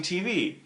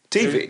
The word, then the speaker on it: TV: there's two ways of pronouncing TV. TV. There's TV when the emphasis is on the T, and there's TV, which